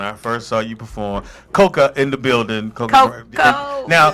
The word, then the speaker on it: Cocoa: Girl, they go Coco. All right. I like whatever. Long as my check Long as right. they right. Long as my check is spelled right, that's all that matters. But it's pronounced Coca.